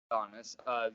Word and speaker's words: Adonis: Adonis.